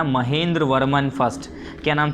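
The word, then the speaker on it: महेंद्रवर्मन: Mahendra Varman first.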